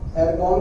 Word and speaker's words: Argon: ये आर्गन में एर्गॉन बोल सकते हो इसको, तो यहाँ पे थोड़ी सी स्पेलिंग करेक्ट लेना, ARGON, सिंबल वही रहेगा AR।